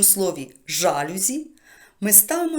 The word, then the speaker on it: жалюзі: Чому це так пояснює Справа в тому що це слово ми запозичили із французької мови А у французькій мові переважно наголос на останньому складі в слові порівняємо всі букле Бонжур мерсі це всі слова які я знаю із французької мови Але зрозуміло що там наголос на останньому складі висновок якщо ми запозичимо слово із французької мови То відповідно і запозичуємо їхній наголос тому правильно казати жалюзі